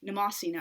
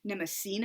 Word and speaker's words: Mnemosyne: I believe that's the correct pronunciation, but I personally, of course, am partial to the Russian pronunciation, Mnemosyne. I just feel like it's makes more sense to me for the stress to fall on that syllable.